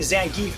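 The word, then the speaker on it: Zangief: and I learned today his name's pronounced Zang I've been calling him zangi for 30 years all right Jamie semi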